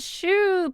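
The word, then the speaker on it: choux: Three generations of Frios have been making these humongous meatballs since 1950 because it's a shoe pastry. So I guess they adapt the pronunciation shoe and cream.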